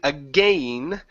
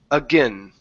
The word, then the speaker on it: again: Now, with this word here, instead of saying again, pronouncing a long A sound, okay, you're going to pronounce a schwa or a short I. You can say again, again.